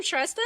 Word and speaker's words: Shrestha: This is Shesta Maharaj. She is an analytics and insights manager at Proctor and Gamble. Welcome Shesta.